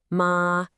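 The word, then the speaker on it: 妈: Say it high and flat, ma, and you're saying mother.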